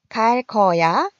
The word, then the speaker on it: 갈 거야: 갈 거야. 갈 거야. 자, 어떻게 써야지 맞는 걸까요? 일단 발음은 갈 거야 된소리로 나고 있습니다.